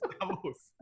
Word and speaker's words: Davos: Davos. So. We're getting there. Vala, can you do better? Think Boston. Think Boston. Davos? Davos, yeah. It's Davos.